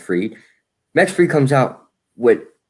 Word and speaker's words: Fried: max free or fried i like to call them fried but i think it's pronounced free max free comes out